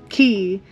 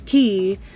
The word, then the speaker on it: Cay: K because you know Castaway key is spelled c-a-y but you pronounce it as key so I don't know